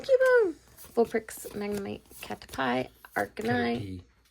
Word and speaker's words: Caterpie: Caterpie. It's pronounced Caterpie. That's stupid because it says pie.